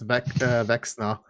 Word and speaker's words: Vecna: It's not Vespa, it's Vexna. There's only 2 letters different.